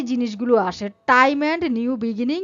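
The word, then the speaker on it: Janus: হবে কি জানস বা জানস বা জানুস এটার সঠিক উচ্চারণ হচ্ছে জানস জানস জানস একবারে যদি উচ্চারণ করেন জানস জে এ এন ইউ এস জানস সঠিক উচ্চারণ করার চেষ্টা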